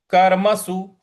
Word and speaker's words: कर्मसु: कर्मसु, कर्मसु, स पे छोटे ऊ की मात्रा है, कर्मसु, इस प्रकार से बोलेंगे।